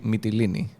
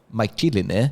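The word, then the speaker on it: Mytilene: have didn't say yeah but it should be metillini not my chili i think the way i learned it for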